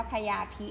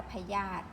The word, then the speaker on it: พยาธิ: ทำ แล้ว นะ คะ พยาธิ ไม่ ได้ อ่าน ว่า พญา ธิ ณ อ่าน ว่า พยาธิ นะ คะ เปลี่ยน รู้